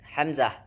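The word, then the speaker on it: ء: Yang pertama tenggorokan bagian bawah. Huruf yang keluar dari tenggorokan bagian bawah yaitu ada yaitu H atau H besar. Kemudian Hamzah. Hamzah.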